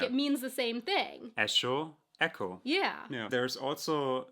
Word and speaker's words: Echo: this is even a small difference, the word ECHO. It means the same thing in German and in English, but in English we pronounce it echo, and in German it's Echo.